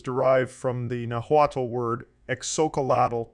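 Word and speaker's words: xocolatl: word chocolate is derived from the nahuatal word exocalital pronounced pronounced nahuatel pronunciation Soca Cola tell which is made up from the words exoc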